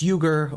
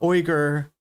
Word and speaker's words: Uygur: Yeah, I forgot to mention that he he introduces him as Jin Unger. Uh, and uh, in the beginning and he never uh realizes that it's it's Yuger or Oer, you want to pronounce it correctly.